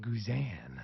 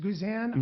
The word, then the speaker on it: Guzan: if you would have tell me that it's not pronounced guzan I would have told you to change your mind I'm really glad that that you're the first person who's ever said that to me because it should be pronounced guzan CU that just has